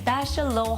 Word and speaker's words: Bachelot: I've been calling it the wrong hall all this time, but thanks to these two here, they told me the right pronunciation, Bachelot Hall.